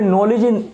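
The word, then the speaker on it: knowledge: अब आपने कहोगे भैया यहाँ पे नॉलेज के से शुरू हो रहा है, के कहाँ गया?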